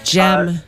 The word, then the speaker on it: Gurn: Is that Gern? I think it's Jen. Yeah, Gern. No, it is Gern.